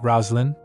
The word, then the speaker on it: Roslyn: Melchior said, Roslyn. He said, let's call her Roslyn. That's how you pronounce the name Roseline in the East.